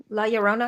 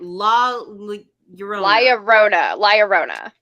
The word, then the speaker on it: La Llorona: La Llorona. I thought La Llorona. There's a yeah sound in there, and I can never say it right. La Llorona.